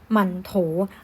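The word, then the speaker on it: 馒头: มัน ถูก ก็ คือ หมั่นโถว เลือก เรียน อ่า มาร โทร ไม่ ได้ นะ คะ เล่น อ่าน ว่า มาร์ค โท หมาน โถ นะ ข้าง หลัง เป็น เสียง เบา นะ อ่ะ โอเค ทำ นี้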